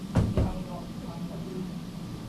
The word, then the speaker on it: Nihongo: Before K, G, sound, this character is pronounced as So, for example, Nihongo that is Japanese language, Nihongo. And before G sound, this is Nihongo.